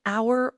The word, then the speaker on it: hour: It is used with singular countable nouns that begin with a vowel sound and also with some words where the h is silent like an hour or an honest man.